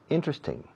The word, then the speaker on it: interesting: Teóricamente, esta palabra tiene 4 sílabas. Interesting. Interesting. 1, 2, 3, 4. Interesting. Pero los nativos solemos decir, no todos, pero la gran mayoría decimos interesting. Interesting. Acentuando la primera sílaba.